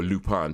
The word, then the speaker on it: Lupin: there's a show called Lupin or lupan to say it properly really um that's recorded